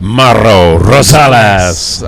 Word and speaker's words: Mauro Rosales: Mauro Rosales. I'm not sure I was supposed to pronounce the R's quite like that, but anyway, it sounded fun.